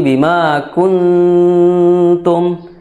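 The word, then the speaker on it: بما كنتم: ya ikhfanya ikhfa tarkik jadi tipis jadi jangan sampai bimatum tapi Bima kuntum Bima kunum ya tipis karena tidak memiliki sifat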